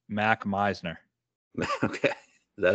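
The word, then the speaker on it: Mac Meissner: I'm looking hard at this guy, Mark Messier. I honestly have no idea how to say his name, but... So those at home wondering who he's talking about, it's Mac Meisner.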